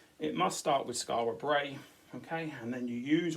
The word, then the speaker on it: Brea: Okay, and remember we're writing about Skara Brea. Now Brea has a Y kind of sound on the end, so you need to think of rhyming words that rhyme with this word.